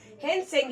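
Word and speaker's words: Hiuen Tsang: हेनसेंग, ये टी यहाँ पे क्या है, साइलेंट है। ठीक है, तो ऐसे याद रखेंगे हेनसेंग।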